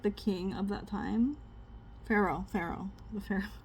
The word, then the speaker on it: Pharaoh: Pharaoh. Pharaoh. The Pharaoh. It's spelled so stupidly that it doesn't even sound like it doesn't look like how it's supposed to sound. The Pharaoh.